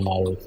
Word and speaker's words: Maroof: yeah Maroof yeah Maroof.